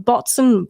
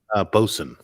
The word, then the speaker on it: boatswain: Well, it's spelled botswain. Botswain. But I think it's pronounced bosun. I don't know. This is a thing I'd find in a D&D book. I'm pretty sure they say bosun.